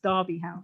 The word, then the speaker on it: Derby House: all i have to correct your pronunciation it's darby house derby house so um so uh